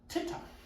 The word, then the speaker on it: tittup: Tit-top, tit-top, tit-top.